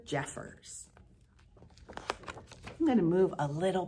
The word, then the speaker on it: Jeffers: you here we are by Oliver Jeffries oh I'm sorry I pronounced that wrong and Jeffers by Oliver Jeffers I'm gonna move a